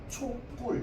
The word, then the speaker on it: 촛불: 초랑 불이 만났는데 발음할 때 뭐가 되는 거야? 초뿔 이러면서 둘이 뿔로 발음되기 때문에 사이을 넣어 주는 거거든. 이해돼요? 그래서 얘는 발음이 어떻게 된다고 했어? 초 뿔로 발음해도 되는데 시옷 시옷을 넣은 상태로 촛불 이렇게 발음해도 된다고 했잖아.